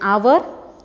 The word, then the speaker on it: hour: With a silent H, an hour. H is silent.